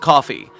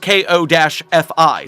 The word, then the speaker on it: Ko-fi: Oh, Charger, everyone calls it coffee. But it's spelled K-O-F-I, so I'll be damned if I call it coffee when it's definitely Ko-Fi.